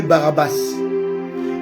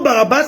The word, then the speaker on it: Barabas: Or le mot Barabas est un mot qui a deux syllabes. Bar abas.